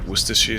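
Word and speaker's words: Worcestershire: ever had things like worcestershi sauce yes okay so it's it's not bad wait did you just say it correctly how did you say that word what's this [ __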